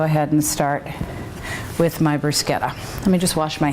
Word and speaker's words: bruschetta: gonna start on my bruschetta bruschetta sorry that's a proper way to say it there was a is the American version of bruschetta for a long time but someone recently said now it's bruschetta so so basically almost